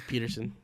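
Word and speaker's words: Pederson: name wrong you yeah it's Peterson it's it's because it's spelled with a d Patterson peton you're used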